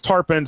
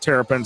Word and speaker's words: Tarpons: It's Tarpons. It's not Terrapins.